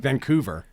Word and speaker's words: Vancouver: a massive massive Oh, did you hear my Canadian accent when I said Vancouver there? A little bit. Van, it's the U. Okay. Say it again. Vancouver.